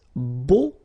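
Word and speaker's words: beaux: plural version and it's Bo okay so you put this x at the end but then you don't pronounce it so it's Bo all right b b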